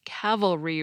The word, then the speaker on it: cavalry: crucified big difference about the only way I can seem to get myself to pronounce cavalry right is to think of the word Cavalier first and sort of set my brain on the kaveh part although today we're most